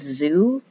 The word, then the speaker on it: ZHOU: But some of the gummies that I like are, I don't know if it's Zoo, if it's pronounced Zoo, it's ZHOU.